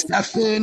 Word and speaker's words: Stephen: His Because first if name is it's Stefan, like it's spelled Stephen, and he's from that area.